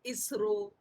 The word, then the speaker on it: ISRO: my mind isro but if we can pronounce a word in english when it is abbreviation that is called acronym so we will say isro then the word uh